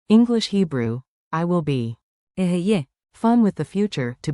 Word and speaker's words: אהיה: Aheye.